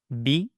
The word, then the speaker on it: Bismillah: Bismi Make sure to recite the ba with the proper kasra. Bi, not ba.